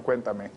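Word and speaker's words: Cuéntame: and especially getting feedback from our supporters on Cuentame. That's spectacular. And thanks for correcting my pronunciation on that.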